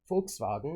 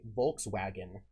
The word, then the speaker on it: Volkswagen: exist so what is a w in german is a v in english and what is a v in german as an f in english so they would say volkswagen volkswagen it's how you pronounce it in german but you would say volkswagen in english volkswagen but there is no